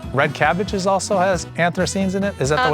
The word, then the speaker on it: anthocyanins: uh I think red cabbage is also has anthocyanins in it. Is that the way I'm pronouncing it, right?